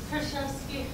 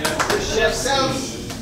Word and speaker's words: Kruszewski: Kruszewski. Come on. You are welcome here to the stage. Yay. Yeah. Kruszewski.